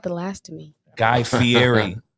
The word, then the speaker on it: Fieri: How do you say his name, bro? You said it right. Am I saying it right? Yes. Because why I want to say Fieri all the time? Is that just a Spanish in me? That's how it's pronounced.